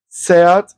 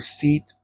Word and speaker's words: SEAT: I think it's pronounced Seat. It is a Spanish brand and that's a Spanish name. And we in Spanish we pronounce the way it's written the same way we pronounce it.